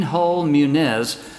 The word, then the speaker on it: Hull-Muniz: People are going to, when they see his name, all the time, and I see it, how do you pronounce that last name? But it's Shane Hull-Muniz. Shane, are you there?